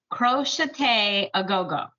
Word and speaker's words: crochet a go-go: And I wrote down, somebody commented on the last video and said, you pronounce it crochet a go-go.